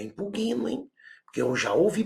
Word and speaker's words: impugno: Eu impugno, não é impugno, bem baixinho, não é impugno, hein?